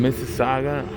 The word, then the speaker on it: Mississauga: a question how do you say how you pronounce this dealership mississauga harley-davidson mississauga harley davidson all right mississauga pretty nice stuff